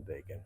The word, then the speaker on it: Bacon: Um Bacon area. And for the people back in the states that are watching this, it is spelled b a c o n. So it is bacon as we call it.